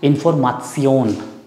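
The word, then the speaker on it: Information: Same spelling है, बट we speak, we pronounce इन्फॉर्मासियोन.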